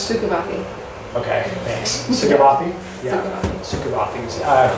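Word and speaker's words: Szukovathy: So we're going to talk about some of those, and then Diane, whose last name I don't know exactly how to pronounce. Sukavathi.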